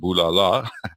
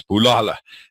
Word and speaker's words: Bulala: And Bulala, by the way, is a Zulu word, so it's not pronounced Bulala, although it reads that way, but it's Bulala, and it means destroy or kill.